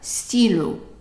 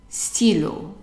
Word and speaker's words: stylo: The Y is pronounced like an E sound. So stylo, stylo.